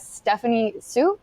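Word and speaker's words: Stephanie Hsu: I really like Stephanie Sue. That's how you pronounce her name. I Stephanie Sue.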